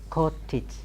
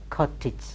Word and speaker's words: cottage: so many words like Co TT AG again cottage cottage cottage cottage cottage then we have ma na